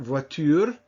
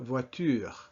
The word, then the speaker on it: voiture: Just pronounce it at the end, voiture, with your throat and not up here. So it's not voiture, but voiture.